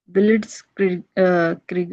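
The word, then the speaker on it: Blitzkrieg: अब ये है बिलिट्स क्रिग। अब इसको कैसे प्रोनाउंस करना है, I must tell you, right. सो इसकी प्रोनाउंसिएशन भी आनी चाहिए, तो हम इसे पढ़ेंगे ब्लिट्सक्रीग, राइट, ब्लिट्सक्रीग।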